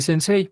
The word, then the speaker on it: sensei: le decía su maestro sensei pero nosotros ya vimos que no se pronuncia así de hecho ya las